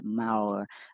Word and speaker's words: Maor: I always pronounce it wrong, but the vowels are flipped. I think it's more, but it's not. It's Maor.